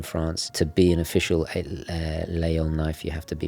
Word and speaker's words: Laguiole: of my favorite knives, Layol or Laguiole. And it's funny, every time I talk about this, some French people correct me and say, oh, it's pronounced this way, and others say, no, it's a silent G, and they can't even decide themselves.